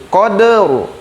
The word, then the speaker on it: qadr: Cara membacanya, kode, de-nya dal di sukunnya dikeluarkan dulu, de kemudian ro sukun. Koderu, koderu, koderu, koderu, koderu, koderu. Seperti itu.